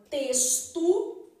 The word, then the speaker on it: texto: posso pegar a palavra texto na palavra texto beleza esse x aqui tem som de s então posso ter esse texto Beleza então cinco letras